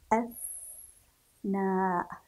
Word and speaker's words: أثناء: نقرأ ونقف عند الحرف، أثناء. لاحظوا كيف نطقنا حرف الثاء لأنه ساكن، أثناء أثناء أثناء.